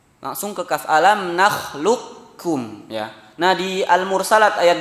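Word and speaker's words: أَلَمْ نَخْلُقْكُمْ: Alam nakhluqukum, ya, langsung ke kaf bacanya. Alam nakhluqukum, lukum langsung ke kaf. Tidak ada sisa qaf di sana, ya.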